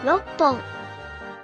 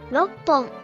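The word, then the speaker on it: 六本: Drop the KU to leave just RO. Then add PPON after that, becoming 6本 Reading aloud, that's 6本 for 6 pens.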